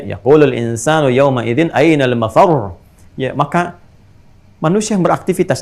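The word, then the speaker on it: مَفَرّ: insanu yawma idzin ainal mafar. Mafar ada tasdidnya tuh. Ya, ainal mafar. Ada tasdidnya, makanya bacanya juga bukan mafar.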